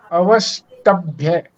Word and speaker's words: अवष्टभ्य: ये जो आधा स है इस पर हमें पूरा जोर देना पड़ेगा, पूरा स बनाना पड़ेगा, तभी जाकर के इसका सही उच्चारण होगा। अवष्टभ्य।